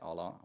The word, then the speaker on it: OLLO: I think I was saying OLLO, but you sort of pronounce it as OLLO. Is that how? Yeah, just OLLO.